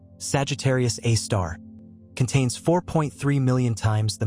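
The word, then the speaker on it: Sagittarius A*: The super massive black hole at the center of our own Milky Way galaxy known as Sagittarius Asterisk, pronounced Sagittarius A star, contains 4.3 million times the mass of our sun within an event horizon stretching 12 million km across.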